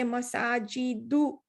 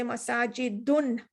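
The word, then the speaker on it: مساجد: So if it's marfu, you say masajidu, you don't say masajidun. You don't pronounce the tanween.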